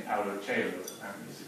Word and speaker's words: Paulo Coelho: you, according to how you say his name, Paulo Coelho, apparently is the correct pronunciation.